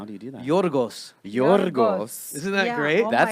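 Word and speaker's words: Γιώργος: Yorgos.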